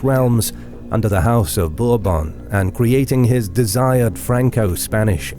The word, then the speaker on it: Bourbon: under the House of Bourbon and creating his desired Franco-Spanish Empire. Is that how you say it, Bourbon? Bourbon? I've always looked at it and said the House of Bourbon, but it's Bourbon.